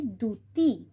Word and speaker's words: দ্যুতি: এই হর্ষ থাকার জন্য এই জফলাটার উচ্চারণ হবে না, আর এটা শব্দের প্রথমে আছে, তাই জন্য এটা হবে দ্যুতি।